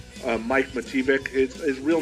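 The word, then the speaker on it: Matijevic: How do you pronounce that name? Mike Mativic.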